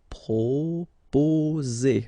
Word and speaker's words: proposer: Proposer. Okay, so proposer. Remember, 2 vowels here and only 1 S, so you will get the sound Z.